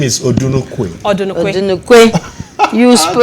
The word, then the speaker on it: Odunukwe: The name is Odunukwe. Odunukwe. Odunukwe. You pronounce it like an Oyigbo guy.